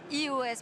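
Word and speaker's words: /e/OS: Il s'appelle iOS, mais ça s'écrit EOS.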